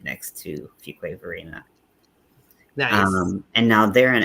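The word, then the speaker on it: Fuquay-Varina: Did we establish how this town is pronounced? I said it, but yeah. So it is Fuquay Verena.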